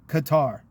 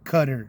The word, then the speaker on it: Qatar: Okay, they own Saudi Arabia, they own Qatar or Qatar, whatever you want to call it. I'm calling it Qatar because that's how it's spelled.